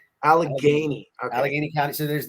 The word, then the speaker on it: Allegheny: How do you pronounce? Is it Allegheny? Allegheny.